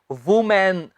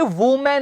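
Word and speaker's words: woman: सारे लोगों के जहन वूमेन जी है वूमेन नहीं है यह है वुमन संबंधित पीछे इतना जावे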